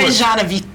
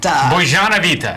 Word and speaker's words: Bozenovaite: Bozenovaite. Bozenovaite. Bozenovaite. Is that right? You have to have the Close, boys like yeah. Boys, like Bozenovaite. Yes. Like a little harsher. A little harsher. Bozenovaite.